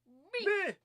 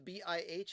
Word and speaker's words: Bih: Now, you can say Bih if you want, or some people are calling it the BIH album, but the proper way to pronounce it is Bih.